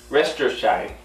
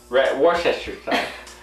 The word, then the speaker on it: Worcestershire: Try to pronounce it. Worcestershire. Worcestershire.